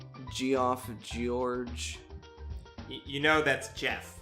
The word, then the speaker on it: Geoff: You know that's Jeff, right? I know. Okay. I know. It's just checking. I know it's pronounced Jeff.